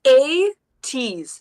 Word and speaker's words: ATEEZ: So a teaser, ATEEZ. I think that's the official pronunciation. I'm not going to be able to say anything but 80s then, because I smush everything together. It's ATEEZ, so you will hear the easy at the end.